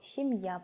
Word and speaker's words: семья: женятся q спал ящику семья переводится так же как и на русском семья но ударение падает на последний слог семья получается семье есть мама